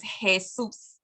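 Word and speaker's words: Jesús: so like the word Jesus in Spanish is hesus kusus so those are the consonants that we've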